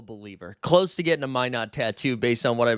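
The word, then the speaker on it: Minott: I was calling him Minot. I was making him from France, and then the chat told me it's why not Minot, and that's why we've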